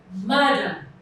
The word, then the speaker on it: madam: For example, you have the word madam. Now let's break this word down. Ma-dam. Madam. The part that is loudest is the first part, which is the first syllable.